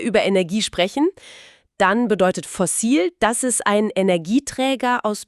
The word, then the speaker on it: Fossil: Die Aussprache ist auf Englisch ein bisschen anders. Fossel, aber das Wort ist fast gleich.